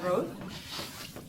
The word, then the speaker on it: Routh: of you to Routh. As I just got, it's pronounced like mouth, but with an R in the beginning.